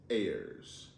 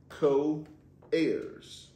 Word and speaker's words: heirs: uh it's it yes the H is silent in heirs good job um what